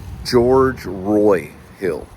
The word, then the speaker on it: George Roy Hill: George Roy Hill is how they say his name.